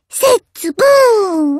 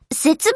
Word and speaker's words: 節分: 聞いたんだ摂津プーン大切だムーン母節分じゃなくって節分ですよ青粒いいんっだから発音は節分ですってああーデースーパーいい